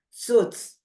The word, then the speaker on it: suits: the the the here the I is not pronounced suits a role that suits